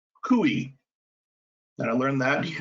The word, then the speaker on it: CUI: controlled unclassified information cui which is pronounced kui and i learned that